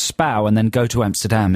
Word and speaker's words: Spui: It's pronounced Spau. Spow. It's spelt Spui, so, you know, to know that it's pronounced Spau and then go to Amsterdam is kind of useless because you'll never find it.